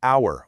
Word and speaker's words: hour: Think of words like hour or honestly. You don't pronounce the H at all. It's an hour and a half, or honestly, I felt it.